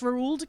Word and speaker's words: Roald: Did you know that it's actually pronounced Roald because it's Norwegian?